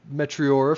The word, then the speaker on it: Meteora: Thank you to Linkle Park or METEORA for winning. Still winning.